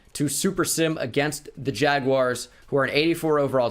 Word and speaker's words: Jaguar: 84 overall team also if you say Jaguars I don't understand you and I don't like you jagwire why would that be wired its Jaguar I I almost understand the British pronunciation of Jaguar more than jagwire I hear people say jagwire and it befuddles me beyond belief up 14 nothing over